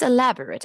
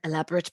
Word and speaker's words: elaborate: verb can you please elaborate your answer elaborate like separate and separate elaborate and elaborate yeah